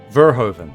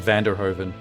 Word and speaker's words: Verhoeven: Verhoeven. There we go. My brain kept wanting to say Vanderhoeven.